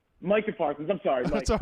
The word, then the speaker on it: Micah Parsons: Mark, that's just not how you say his name. Micah Parsons.